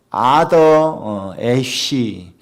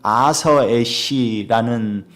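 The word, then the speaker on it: Arthur Ashe: 미국의 아더 애쉬 또는 아서 애쉬라는 발음을 하는 테니스 선수가 있었습니다.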